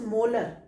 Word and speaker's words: M: जैसे सपोज किसी ने आपको कहा कि वी are having 0.1 मोलर, so this capital एम indicates मोलर. ठीक है, इसको हम प्रोनाउंस किससे करेंगे बेटा? मोलर. 0.1 मोलर.